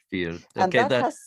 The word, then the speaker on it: fyr: mediocre pronunciation but um fyr is uh lighthouse and norwegian is that correct uh that's correct yeah how do you how do you pronounce that feed feed fear that has a few